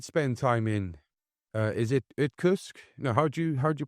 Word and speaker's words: Irkutsk: But you did spend time in, is it Irkutsk? No, how'd you pronounce it? Irkutsk.